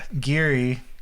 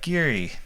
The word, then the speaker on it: Ghiri: The first few sessions was like, Geary. Jerry's like, what? And it was spelled Ghiri too. Yeah. It has like an Italian pronunciation, but not spelled like Jerry, but it was confusing. And even that character was kind of weird.